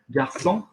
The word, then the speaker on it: garçon: Garçon, okay? That needs the soft C on it.